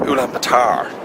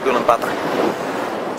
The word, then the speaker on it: Ulaanbaatar: That's how you pronounce it, not Ulaanbaatar. It's Ulaanbaatar. Say it with a Dublin accent and you get it right.